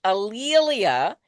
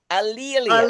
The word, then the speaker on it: A'Lelia: And my name is pronounced Alelia. And one Okay. easy way to remember it is that it rhymes with Amelia or Oh, there you Okay.